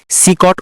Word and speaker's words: CECOT: এটি কোন বিলাসবহুল ভবন নয় বরং বিশ্বের অন্যতম বৃহৎ এবং কঠোর নিরাপত্তা সম্পন্ন বন্দীশালা যা আমরা বাংলায় সিকট উচ্চারণ করে থাকি।